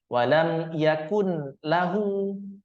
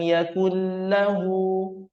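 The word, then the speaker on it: يَكُن لَّهُ: tidak boleh Kita pisah tidak boleh kita baca seperti ini Yakun lahu Yakun lahu enggak boleh mesti kita masukkan Wam yakunahu kendatip pun di huruf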